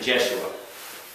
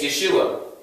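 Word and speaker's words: ישוע: Or people pronounce it Jeshua. Now why did they change from this spelling from the understudy of Moses? From the O to the E. In Hebrew, it's Yehoshua. In Aramaic, it's Yeshua.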